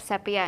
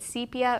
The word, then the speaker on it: sepia: By the way, we looked up sepia, and you can pronounce it sepia or sepia. So, nobody's wrong here.